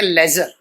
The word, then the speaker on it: ledger: का हमारा टॉपिक है लेजर एलईडी CR लेजर लेकिन कुछ बच्चे गलती कर जाते रेड्डी को बोलते हैं एलईडी लाइट जरूर प्लीज टीम मत बोलना डी साइलेंट रहेगा लेजर क्या कहेंगे भाई हिंदी